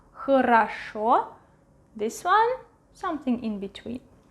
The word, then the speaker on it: хорошо: If you are doing well, you say хорошо, хорошо, хорошо. The stress is here. Хорошо. Stressed O is pronounced clearly. Хорошо. This one is next to the stressed one, so it will be a clear A. Хорошо.